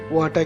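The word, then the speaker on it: は: ওয়া ইকাগা দেস্কা, ওয়াটা কিন্তু এটা হা, এখানে ওয়া যেটা দেওয়া আছে এটা হা, কিন্তু হার উচ্চারণটা এখানে ওয়া হবে।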